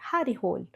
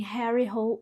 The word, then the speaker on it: Harry Hole: Mas aí eu pensei, calma, gente, isso aqui é muito inglês e o cara é norueguês. Então eu investiguei e descobri que a pronúncia é Harry Hole.